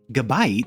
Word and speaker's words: Gabite: and a massive mouth gabit and yes that's how you say it I just looked on